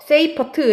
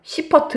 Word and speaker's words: 세이퍼트: 자, 넘어가서 세이퍼트 은하입니다. 세이퍼트 은하. 다른 말로는 영어식 표현이라서요. 그냥 시퍼트 은하라고 읽기도 합니다. 시퍼트 은하.